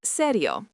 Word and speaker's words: serio: Is serio pronounced serio.